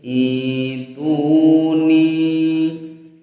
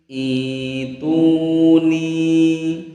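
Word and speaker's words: ائْتُونِي: Yang betul atau yang tepat adalah huruf alifnya ini kita baca kasroh ya, kemudian hamzahnya kita ganti dengan huruf ya, sehingga bacanya menjadi ituni, ituni ya, i-nya panjang, ituni, begitu.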